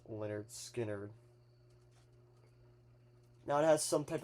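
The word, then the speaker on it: Lynyrd Skynyrd: And then here's the one for pronounced Leonard Skard.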